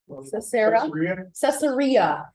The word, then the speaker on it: Caesarea: Caesarea.